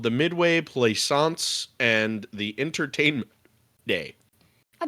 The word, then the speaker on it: Plaisance: This is what they called the Midway Plaisance and the Entertainment Day. I bet if I were to try to say that, I'd not get it right. Like plaisance. Hey, you said it right. Good job.